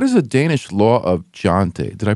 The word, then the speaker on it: Jante: to Americans what is a Danish law of jante did I pronounce that right yes Yentl or well it's not an actual law bill